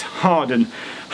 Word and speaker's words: Hawarden: But I wanted to get the pronunciation right, so I definitely confirmed with David that it's Harden Bridge.